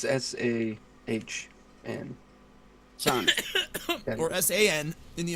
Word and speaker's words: san: It's SAHN. Son. Or S-A-N in the Americanized Man, pronunciation.